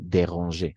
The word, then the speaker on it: dérangé: A nivel de la pronunciación vamos a pronunciar igual. Déranger al infinitif, este es el infinitivo del verbo ujú, déranger, y el participio pasado déranger, de la misma forma.